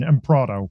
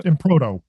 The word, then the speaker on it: Emproto: No one can pronounce my last name. I don't get it. It's okay. It's the American. Right, it's the American pronunciation. Emproto. Yeah. Emproto.